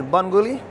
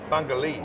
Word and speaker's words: Bungoolee: It's pronounced as Bungoolee. Bungoolee.